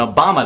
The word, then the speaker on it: Obama: You've got Barack that rhymes with Iraq, Hussein of like Saddam Hussein, and Obama that rhymes with Osama.